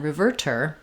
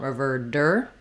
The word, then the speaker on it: reverter: first syllable and then our T becomes a flap which sounds a little more like a D um because we use the flap sound for T's and D's in the middle of words when the syllable following is not stressed so rather than reverter in American English reverter reverter I don't need a strong D there I don't want revered dur but rather just lifting